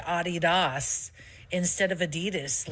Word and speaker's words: Adidas: So, the correct pronunciation is Adidas.